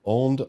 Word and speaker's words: Ondes: And the Onde is like, okay, well, you kind of know French, but not really. It's on.